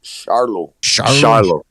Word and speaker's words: Charlo: hand don't think yeah i think it's pronounced charlotte charlo charlo how about [ __